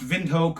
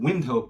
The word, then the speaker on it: Windhoek: It's pronounced Windhoek. Most Americans pronounce it Windhoek, but it was controlled by the Germans.